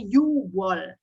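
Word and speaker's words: 유월: ya 6 antara Yup Tapi bacanya kalau orang Korea adalah you walk Kenya dihilangkan ya ketika berbicara bilangnya adalah hiu wall karena susah bilangnya yuk well itu susah jadinya you well you well Made Donald juseyo you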